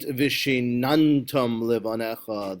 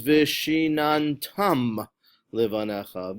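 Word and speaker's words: ושננתם לבניך: It isn't v'shinantam levanecha, the mila'el version. It is v'shinantam levanecha v'dibarta bam. That is the correct way to pronounce it, milarah.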